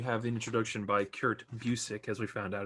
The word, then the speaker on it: Busiek: Like so I was reading at the beginning, you have an introduction by Kurt Busiek, as we found out it's pronounced Busiek, as we found out, yeah.